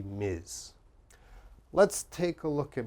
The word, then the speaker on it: Ms: titles again for business you only need to know this one Miz and this one Mister any man is Mister and every woman should be Miz let's take a look